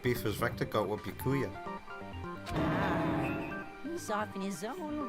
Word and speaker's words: Byakuya: What beef has Vector got with Yakuya? He's off in his own little world. What about you, Makoto? After everything we've learned, do you still think Byakuya's the killer? You're supposed to pronounce it Byakuya.